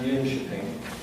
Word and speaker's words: Jönköping: Now, in a place called, it's spelled John Coping, but it's pronounced Jönköping in Sweden, they produced this Esther model of care.